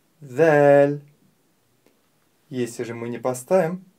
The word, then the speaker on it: ذ: произносить эту букву ль произнося букву ль мы должны обратить внимание на три важных момента первое буква ль мягкая буква Поэтому нужно произносить её мягко не стоит произносить её твёрдо л мы её произносим мягко ль второй момент буква ль звонкая послушайте ль ль и в-третьих буква ль - межзубная буква и для правильного произнесения нужно поставить кончик языка между передних зубов ль Если же мы не